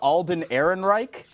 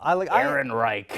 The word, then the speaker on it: Ehrenreich: You talking about Alden Ehrenreich? Is that how you pronounce his name? Yes. Okay. It sounds like a SS officer or something. Okay, well, Ehrenreich.